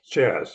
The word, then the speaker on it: Chaz: Okay, Chaz, his nickname, and rhymes with jazz, and connects back to what Anna was saying about the music.